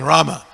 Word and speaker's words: Rama: of our kiranas that there's no o in Rama because a lot of them like to say r there's no o there Rama or Ram you can